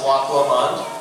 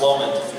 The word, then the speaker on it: Loch Lomond: This is Loch Lomond, which is the correct way to say it. Everyone corrected me in band, and I actually had to go and look it up myself. I'm from Pennsylvania, so it's Lomond.